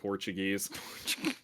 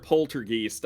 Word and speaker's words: poltergeist: my favorite is still the people who just gave up on the pronunciation of poltergeist and called it portuguese what yeah yeah portuguese i mean i heard a lot i mostly heard poltergeist i sometimes heard like